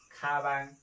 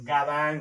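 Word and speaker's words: 가방: शब्दको सुरुमा आउदा ग को उच्चारण ख गरिन्छ जस्तो खाबाङ यो चाहिँ खाबाङ हो के अब यो गाबाङ हैन यो खाबाङ हो खाबाङ भनेको के हो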